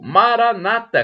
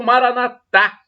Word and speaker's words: Maranata: do aramaico Eu Clamo Maranata como dizem os protestantes com a tônica na penúltima sílaba o Maranatha como dizem os católicos são a tônica na última sílaba o significado é o